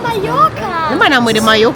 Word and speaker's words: Mallorca: The place is pronounced as Mayorka. But the spelling is with double L. But it's pronounced as Mayorka.